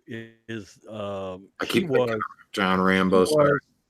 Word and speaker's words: Rambeau: he one of John Rambo's no it's Rambo like like French yeah it's spelled with like a Louisiana sort of sweats yes French bridge yeah